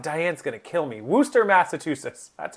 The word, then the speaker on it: Worcester: Worcester, Massachusetts. God, Diane's going to kill me. Worcester, Massachusetts.